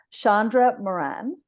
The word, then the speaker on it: Shandra Moran: and I'm joined by my guest this week Shandra Moran is that how I pronounce it perfect oh good and um so